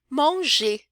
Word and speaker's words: mange: Então, je mange, aí esse AN vai ter um som meio de ON. Vocês vão se acostumar com ele. Je mange, tu manges, elle mange, il mange,